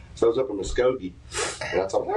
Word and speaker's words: Muskogee: Muskogee? Is that right? Muskogee? Yeah. So I was up in Muskogee.